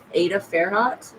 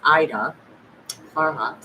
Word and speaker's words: Ida Farhat: I was staying at an Airbnb with Ada Fairhot, okay, or Ida. I say her name wrong. It's Ida Farhat, okay, and she was